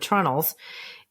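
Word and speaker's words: treenails: about covered bridges because sometimes it's spelled the way it it should be spelled tree nails but it's pronounced in New England trunnels and I know that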